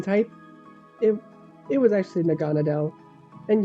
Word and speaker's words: Naganadel: it it was actually naganadel and yes I pronouncing it naganadel not naganadel as every everyone keeps saying it's naganadel it's a Naga like a giant serpent thing even though it's not